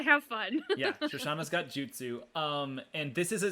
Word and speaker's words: jutsu: the spell followed by i'm going to say it wrong do you juice you i can't say it yeah you got it jutsu jutsu in order for it